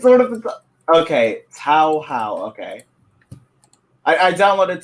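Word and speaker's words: Touhou: Tao How. Okay, I downloaded Tao How 7 and 8, and so far I'm really enjoying both of them.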